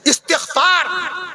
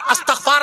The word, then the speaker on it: استغفار: ترجمہ، ترجمہ۔ میں عرض کر دوں آپ سے صحیح لفظ اس طریقے سے استغفار، صحیح لفظ ہے استغفار، استغفار نہیں ہے، استغفار کبھی نہ کہیے گا، استغفار پڑھیے، استغفار پڑھیے، آدمی